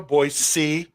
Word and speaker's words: Boise: I know, Boise. Melbourne. Melbourne. MELBN. Melbourne. That's it. Melbourne. BOISE. No Z.